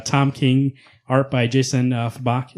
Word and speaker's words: Fabok: Swamp Thing Winter Special #1, written by Tom King, art by Jason Fabak. Is it Fabak or Fabuk? I think it's Fabok. Fabak, that's right. Fabok.